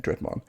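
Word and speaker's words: Draugr: Next card I want to talk about is Rise of the Dreadman. That's how you say it. Yeah, Dreadman.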